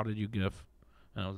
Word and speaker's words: GIF: I remember the first time I gift somebody, and when Facebook, they were like, how did you gift? And I was like, oh, I just figured this out. You just give him a gift.